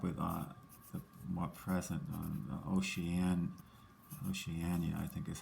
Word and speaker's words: Oceania: on this map with the more present on Oceania. I think is how you pronounce that. And Antarctica. I'm gonna double check my atlas to make sure that that's correct. Oceania.